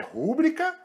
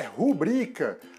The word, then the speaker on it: rubrica: Então, lembre-se, a forma correta é rubrica e não rúbrica.